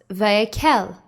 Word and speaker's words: Vayek'hel: the name of our torah portion is pronounced vaikel and it means and assembled it comes from exodus chapter 35 verse 1.